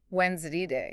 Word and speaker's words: Wednesday: So, in both American and British English, the most common pronunciation you'll hear is when Zday wins day. Yeah. That D and the D's, they kind of get mushed together.